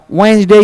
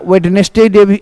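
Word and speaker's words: Wednesday: सातों दिन आप जानते थोड़ा सा उच्चारण एक जगह अंतर है देख लेना है जैसे कहता हूं संडे रविवार मंडे सोमवार ट्यूजडे मंगलवार वेनसडे या वेडनेसडे वेडनेसडे भी बोल सकते हो इसका मतलब बुधवार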